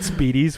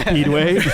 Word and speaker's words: Speedway: Like we said Speedies, we said it wrong. It's Speedway.